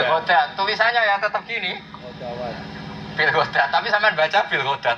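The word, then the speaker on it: بالغداة: Nah, karena tulisannya ada wawu, ada ulama yang baca bil hudwah. Nah kita tetap baca bil ghadat.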